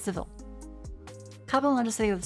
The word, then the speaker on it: Seville: Wait, Seville or is it civil?